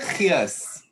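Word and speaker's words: gees: Like there's a trick to it. I always teach my American friends. What you do is you say gears, but then you struggle a little at the beginning.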